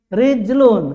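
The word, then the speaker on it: رِجْلٌ: saya ingin katakan laki-laki Ya sudah baca rjulun Saya ingin katakan kaki bacalah rij rijlun walaupun tidak ada harakat kita baca tetap rijlun untuk kaki rijlun kaki rjulun laki nah begitu tergambar mudah ya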